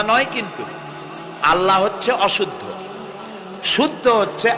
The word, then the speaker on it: আল্লাহ: আল্লাহ বলেন তো আল্লাহ আল্লাহ নয় কিন্তু আল্লাহ হচ্ছে অশুদ্ধ শুদ্ধ হচ্ছে আল্লাহ বলার সময় মুখটা গোল হয়ে যাবে বলেন তো সবাই উচ্চারণ